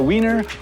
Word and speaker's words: Wien: Vienna in German is pronounced Wien and spelled Wien.